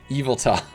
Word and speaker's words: Yveltal: So the Y is silent? That makes so much more sense. Yveltal. Oh, like Garfield.